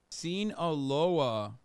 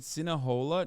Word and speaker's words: Sinaloa: Sinaloa. You said Sinahola?